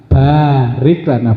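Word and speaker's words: بارك لنا: Bacanya Allahumma barik lana ba nya panjang.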